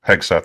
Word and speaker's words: Hegseth: Is that how I'm supposed to pronounce it? Yeah, Hegseth? that's it. Yes. Hegseth, that's yes.